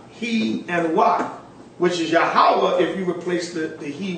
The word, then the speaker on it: Yahweh: That this seems to be the true Hebrew pronunciation of the divine essential name, Yahweh. Jehovah will appear more obvious from the sound they seem to have given their characters.